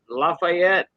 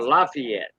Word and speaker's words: Lafayette: some people say uh Lafayette or Lafayette some people say uh Lafayette you know like for Lafayette you know